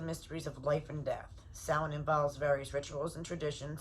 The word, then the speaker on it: Samhain: Samhain, pronounced Samhain, begins the evening of October 31st and lasts to the end of the harvest season, November 1st, the Gaelic traditions.